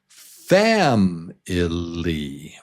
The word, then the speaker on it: family: And syllable number 1, number 1 is the strong syllable. So it's family, family, family.